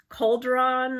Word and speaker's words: cauldron: Now that I have it in my head, it's like I know how to pronounce, but cauldron or cauldron, I couldn't pronounce it. So she puts big caps, C-A-W-L, cauldron.